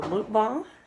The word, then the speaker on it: mukbang: Today we are going to do a mukbang. How do you say it? Mukbang.